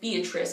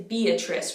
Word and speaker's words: Beatrice: english we do say beatrice we do pronounce each vowel it's not perfectly like it is in italian but we still pronounce them individually which should help so it's beatrice beatrice becomes beatrice and the